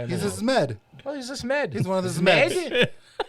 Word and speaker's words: Zmed: Zmed.